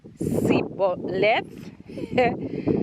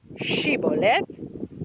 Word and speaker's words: Shibboleth: If he said Sibboleth instead of Shibboleth, because he could not pronounce the word correctly, they seized him and killed him at the fords of the Jordan.